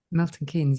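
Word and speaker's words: Milton Keynes: Did it start at the um uh what is uh now Milton Kees? Is that how you pronounce it? Milton Kees.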